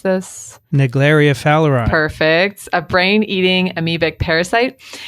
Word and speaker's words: Naegleria fowleri: research on, Vincent, do you know how to pronounce this? Naegleria fowleri.